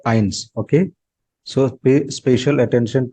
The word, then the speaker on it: eins: So here you can see EI sound. EI combination of the letters. So it is always I. You know it.